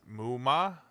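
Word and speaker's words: 夢魔: The Japanese used MMA, pronounced Muma.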